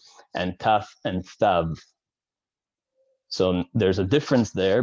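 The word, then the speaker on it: תָּו: And this actually why we've talked about this before, but in the traditional Ashkenazi pronunciation of thav is a sav, because in Eastern European languages, there is no th sound.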